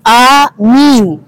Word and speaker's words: amin: Sedangkan amin di dalam urusan sholat itu amin. A-nya panjang, min-nya panjang.